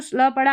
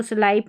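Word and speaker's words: slip: यहाँ पर देखें लास्ट में पी के बाद में ई नहीं है, इसलिए आई को ई पढ़ेंगे, स्लिप पढ़ेंगे स्लिप, और एस एल को स्ल, तो इसको स्लाइप नहीं पढ़ना है।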